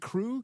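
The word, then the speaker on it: Krew: We pronounce it crew. K R E W. We are the crew. That's the Bucks. Uh I know that. So they named him They named their baby crew.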